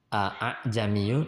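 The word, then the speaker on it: أعجمي: Pada kalimat a'jamiyyun nanti dibaca tashil ya, a'jamiyyu.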